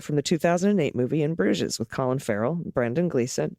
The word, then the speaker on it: Bruges: one listener bruges is pronounced with the oo sound and a soft g into a z bruges okay so it sounds like bruges or bruges okay if